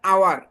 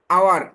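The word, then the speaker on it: hour: সেটা হচ্ছে ওয়ান, হাওয়ার বানান দেখা যায়, কিন্তু উচ্চারণ হচ্ছে আওয়ার। এইচ এর উচ্চারণটা হবে না, এইচটা এখানে সাইলেন্ট থাকবে। আওয়ার, আওয়ার মানে আমাদের যেটা পড়েছিলাম ওই উচ্চারণটা হবে।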